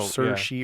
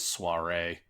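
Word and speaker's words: Saoirse: a pronunciation guide and it says her name is pronounced no sir she or sir che saw che yeah I would have never never gotten last year which actually that makes me think of I actually totally would have pronounced that as soiree I mean she does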